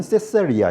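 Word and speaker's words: Caesarea: 영어는 표기는 똑같이 해놓고 발음은 시저라고 하고 그래서이 도시 이름도 가이사의 도시 황제의 도시 그래서 가이사랴인데 영어로는 세세리아 이렇게 발음을 해요.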